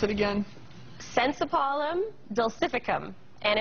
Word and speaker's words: Synsepalum dulcificum: Well, interestingly enough, there is this miracle fruit, and how do you pronounce it again? Sensipalum dulcificum.